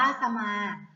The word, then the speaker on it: สมา: เลย ค่ะ คำ ว่า สมา ค่ะ สมา อ่าน ว่า สะ มา จะ มา ประกอบ ไป